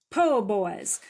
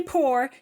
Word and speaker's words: po' boy: the Giant Blackened Turbo Po' Boys. Now, if you're from the South or you've ever been to the South, you don't say poor, you say po' boys.